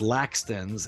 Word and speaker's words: Lakstins: It was shortened to Lakstins, but it's pronounced Lakstins in English, but it's still hard to say.